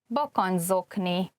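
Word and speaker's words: bakancszokni: This word, bakanczokni, consists of 2 separate parts. The first part is bakancs, which means boots, and zokni is socks. And the reason why it could be harder to pronounce is that at the end of bakancs, you can see the CS, which is a Hungarian digraph. And then the next word, zokni, begins with a Z.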